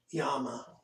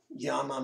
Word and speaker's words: llama: actually two else and the two l's together make the y sound and so l is